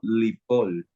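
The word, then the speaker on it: לִפֹּל: p y una lap el verbo se pronuncia como lipol lipol cierto y significa caerse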